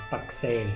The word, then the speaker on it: Pakse: i'm going to say so you're thinking it's not taxi no it's pak say that's how you say it allow we're going